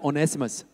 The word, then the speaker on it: Onesimus: slaves that on either far lemon had was onesimus everybody said onesimus okay you said it right now right next